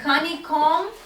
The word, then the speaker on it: honeycomb: yeah what is uh honeycomb yes c-o-m-b you don't pronounce b silent b okay honeycomb yes okay